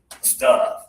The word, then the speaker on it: stuff: This one is stuff. Stop. Stuff. And here, this one is lower tongue, breathe out extra air.